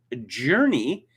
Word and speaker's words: Jurnee: I don't know, but it's spelled Jocqui, Jojo, Journey, which is spelled Jurnee, and Jazz.